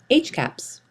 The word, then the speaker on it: HCAHPS: healthcare providers and systems it is commonly pronounced HC caps what is HC caps